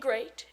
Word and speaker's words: great: don't call it deed watch out for meat and great and threat they rhyme with sweet and straight and dead a moth